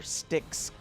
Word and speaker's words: Styx: one has pustules and tentacles this is your sticks Jessica's class which is spelled s-t-y-x yep like the River Styx class